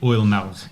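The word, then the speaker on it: Oimelc: I think Oilmelg is the oldest way of saying it, but we definitely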